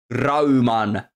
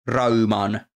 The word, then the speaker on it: Rayman: being helpful here yes because Rayman turns into like raan and that's if you if you didn't know anything about engl English and you were to just pronounce Rayman in in a complete finished way it would be raan so that's let me